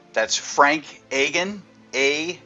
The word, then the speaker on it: Agin: back for another episode this this is Frank aen that's Frank aen a g n founder and president of Am